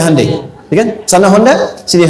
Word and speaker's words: Hyundai: Hyundai kan dibacanya Hande ya kan sana Honda sini Handai gitu.